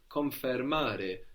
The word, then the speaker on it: confermare: In Italian is confermare. Now this is spelled with an I in Confermare. English, confirm. But in Italian it becomes an E, which consequently makes it sound more like the English, no? Confermare.